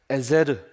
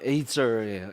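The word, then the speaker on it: עזר: 에제르. 정확한 발음은 에이저예요.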